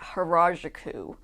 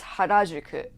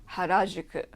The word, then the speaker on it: Harajuku: It's not Harajuku, it's Harajuku. Harajuku.